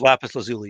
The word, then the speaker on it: lapis lazuli: is lapis lazuli.